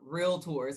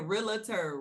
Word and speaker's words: realtor: which by the way, we want to make sure that people know how to say this. Okay, I love because if I hear realtor one more time, realtor. That's what it is.